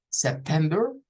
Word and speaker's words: September: September, que vendría siendo sep, la primera sílaba, tem, la segunda, y ver, no es ver, ojo, no lo vamos a decir como September, es September, es con schwa.